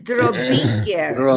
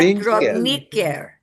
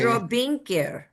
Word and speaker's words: drobinker: This is Drobinker, not Drobniker. Oh, It's okay. Drobinker.